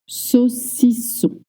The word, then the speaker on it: saucisson: AU makes the sound O, right? Again, in French, we don't have short or long. Everything is short. So when you see AU, you might be tempted to say so. No, keep it short. O. So, and then double S makes the sound S, like in 7.